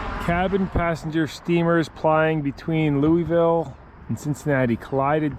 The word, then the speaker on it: Louisville: come back now mi upop Louisville or Louisville as the locals say a thank you oh